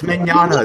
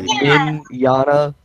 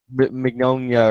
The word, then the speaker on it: Mignogna: It's Mignogna. It's like a spaghetti. Mignogna. Yeah. Lasagna. I thought it was he something met- more like Mignonia or something like that, not Mignogna.